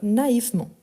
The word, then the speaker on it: naïvement: est en train d'écrire parfois je prononce mais vous savez bien que les e ici entre les deux sauf si on a les son de a on ne le prononce pas donc naïvement naïvement ensuite on a do